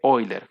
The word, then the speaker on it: Euler: un número complejo pero en vez de euler suele decirse oyler que sería la pronunciación correcta pero yo les digo a eurosport que generalmente todos lo conocen así como euler en realidad sería oyler para que lo tengan en cuenta